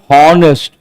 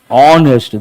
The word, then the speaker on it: honest: People say hornest. No horse sound. H is silent. Then what are you supposed to say? Honest.